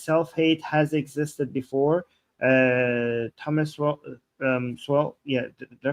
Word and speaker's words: Sowell: Thomas Swell, did I pronounce him right? I know he's an economist. He's a libertarian economist. Did I pronounce his last name? Thomas Sowell.